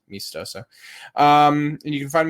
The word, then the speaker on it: meastoso: at me estoso it's it looks me estoso that's how it's spelled and i just pronounce it mistoso um and you can